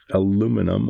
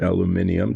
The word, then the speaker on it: aluminium: So, what will happen today is a fair amount of painting with aluminum or aluminium, depending on where you are and how you pronounce it, paint.